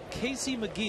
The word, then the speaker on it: Casey McGee: Casey McGee is how he pronounces it.